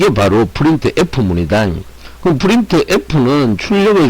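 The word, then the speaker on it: printf: 그리고 프린트 F 함수는 뭐다? 프린트 F라고 읽으면 되더라. 포매티드 이렇게 안 읽고 프린트 F라고 이렇게 읽으시면 되겠습니다.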